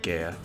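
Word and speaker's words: Gaea: new item shield through Gaya shield or guy-ish I pronounce that Gaia but creates a frontal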